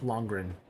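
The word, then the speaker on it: Lundgren: Oh, and um there was also a cameo from Dolph Longreen. Uh Dolph Longren Longren. I can't pronounce his last name. I can sometimes, sometimes I can't, but Dolph Longren.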